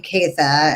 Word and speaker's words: Caytha: was growing up, and they heard the name Caytha, and they thought it was so pretty, but it's a Germanic name. It's spelled Kaethe, Caytha, and so they were like,